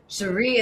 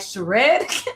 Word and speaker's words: Cheire: the way I say it like in um pronunciation where I put like Sheree and then like it it always does that autocorrect. And then he he it changed to a D and he started being like shared.